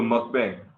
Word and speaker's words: mukbang: He's like, will you guys do a mukbang? Mukbang. I feel like I'm saying it wrong. Mukbang.